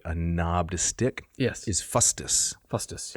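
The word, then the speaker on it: fustis: cudel right a a knobbed stick yes is fusus fusus f u s t i s fusus that's one of the words you can use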